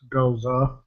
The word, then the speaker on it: Gose: So what he's drinking is actually pronounced Goza.